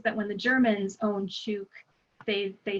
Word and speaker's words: Chuuk: coaster I and so they took the proper spelling and pronunciation of their islands back after that so unfortunately anytime that you're reading about world war ii we're talking about it it's charcoal goon but now it's properly sub shook so i tend to